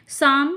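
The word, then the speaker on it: psalm: से याद कर लीजिएगा साम नेक्स्ट वर्ड है हमारा साम साम में पी साइलेंट रहता है हमने नाइंथ या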